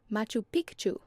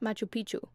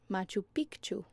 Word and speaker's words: Machu Picchu: There's clearly an extra C in there. I always just thought it was silent, but all of the locals pronounce it Machu Picchu.